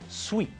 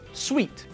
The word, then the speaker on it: suite: The second word, the one which means a set of rooms or a set of chairs, is pronounced sweet, which is the same pronunciation as sweet.